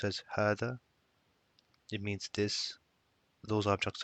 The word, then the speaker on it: هذا: It's called it's pronounced as hada.